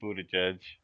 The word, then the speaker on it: Buttigieg: pronunciation, I believe, is supposed to be closer to booty after judge.